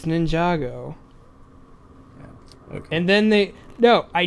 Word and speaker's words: Ninjago: good and I don't give two shits about Ninjago but like I kind of want to go see that movie after seeing the trailer because it looks pretty funny it's pronounced and lunge it goes no it's Ninjago and then they know I know this because